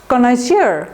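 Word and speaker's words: connoisseur: Word লিস্টে পাবেন, কনয়েজার, হ্যাঁ, এটা একটা ফ্রেঞ্চ ওয়ার্ড, ডাবল এন হচ্ছে এবং ডাবল এস আছে, হ্যাঁ, দেখবেন, দেখে নেবেন, বানানটা দেখে নেবেন, ডাবল এন ডাবল এস, কনয়েজার, কনয়েজার এভাবে বলবেন, কনয়েজার।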